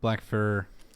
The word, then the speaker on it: Blackfyre: Black fur. Fear like a pyre.